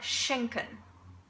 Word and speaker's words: schenken: So basically, in every word where the SCH is in one syllable, you pronounce it sh, okay? For example, der Schnee, okay? Der Schnee. Or schenken, schenken.